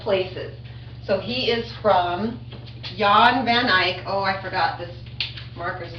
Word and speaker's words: Jan van Eyck: It's not an English name, so it's Jan van Eyck.